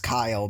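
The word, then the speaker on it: X Æ A-12: know yeah he like he had to go on Twitter and specify that was pronounced Kyle because it was like some kind of formula thing and the way the formula is pronounced would be pronounces that's Kyle I'm just saying makes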